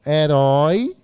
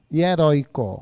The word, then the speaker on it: herói: herói heróico Oi gente herói é o que quanto a sílaba tônica oxítona paroxítona proparoxítona é oxítona e o assento do olho das oxítonas desapareceu não só desapareceu das paroxítonas então é herói tem acento Oi e aí como